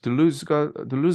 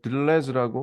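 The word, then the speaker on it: Deleuze: 우리 미국 어쨌든 발음으로 들루즈라고 하죠. 들루즈. 예, 여기서 미국에. 들루즈의 오늘은 들루 싱귤러리티에 여기 대해서 근데 한국 독자분들이니까 그냥 한국 철학자들이 보통 이렇게 발음하는 들레즈라고 뭐 하죠.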